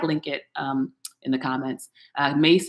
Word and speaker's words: Myss: And there's this Caroline Mace. I'll like link it in the comments. Mace is spelled Myss.